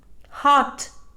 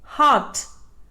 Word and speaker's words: heart: correct pronunciation is village hot it is mispronounced as hot the correct pronunciation is heart are is silent tomb it is mispronounced